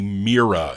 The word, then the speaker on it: Mira: four trumps on the mira i think that's how you pronounce it or myra or mira i know when i play my 60s randy told me mira it's like you're looking in the mirror anyway that's march 1958